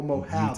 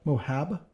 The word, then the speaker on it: Moab: Oh, Moab. Utah. What? Moab? No, Moab. I'm not saying it wrong. Moab. Okay, Moab.